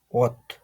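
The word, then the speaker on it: 옷: Yung initial nito is silent in G plus yung vowel na O.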